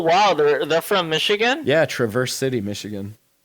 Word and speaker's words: Traverse City: Oh wow, they're from Michigan, Yeah, Traverse City, Michigan. Traverse City, Michigan. No fucking way. I got family up there. It's pronounced Traverse.